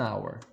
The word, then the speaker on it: hour: An hour. Nessas palavrinhas aqui você não pronuncia a letra H.